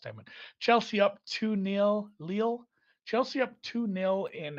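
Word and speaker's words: Lille: pronunciation of this team lil leo lily lil lu again it's french so i'm gonna go real soft with it somebody helped me in the chat last time chelsea up two nil leel chelsea up two nil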